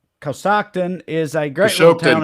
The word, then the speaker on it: Coshocton: Trey, not only is Matt correcting your pronunciation in the chat, but you heard it pronounced 10 times in a news story. It's Coshocton. It's Coshocton.